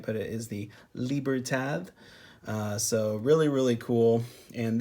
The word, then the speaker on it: Libertad: are awesome now the a lot of people call them the Libertad z-- lippert ads I guess is how it's spelled but you know it's it's kind of a silent D it's almost like a th sound if you want to say it correctly so I probably don't